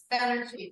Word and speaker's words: Banerjee: Okay, maybe you could pronounce his name for me? Banerjee.